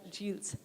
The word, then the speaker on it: Gilles: So we'll start with Gilles. I'm sorry if I'm mispronouncing your name. No. Gilles.